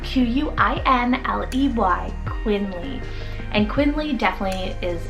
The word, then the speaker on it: Quinley: Then for the boy side, another L-E-Y ending name is Quinley, spelled Q-U-I-N-L-E-Y, Quinley.